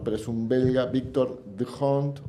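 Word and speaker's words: D'Hondt: the hunt o don't, porque nosotros tendemos a que cuando nos encontramos una H que abre algo es muda y pero en realidad parece que en Bélgica se pronunciaría The Hunt o algo así.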